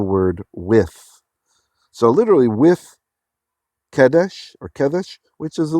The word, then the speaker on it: Kadesh: place name so at Kadesh or you can just say Kadesh using kind of a Israeli pronunciation today all right let's